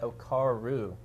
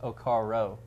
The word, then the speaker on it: Okaro: Well, I want to say like a month or two ago, I said Okaru instead of Okaro.